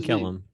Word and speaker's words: Kellum: Rodney Kellum. Yep. I did say it right. Okay. You got it right. And, you nailed it. And Mr. Kellum, sir, you're or living in Atlanta now, at least.